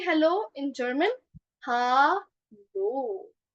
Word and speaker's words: Hallo: Hallo. Hallo. So it is somewhat pronounced like ha लो.